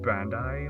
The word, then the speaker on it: Bandai: super sentai which is all like pronounced Bandai like that's all pretty